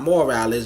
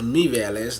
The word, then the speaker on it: Mireles: Not Morales, Mireles.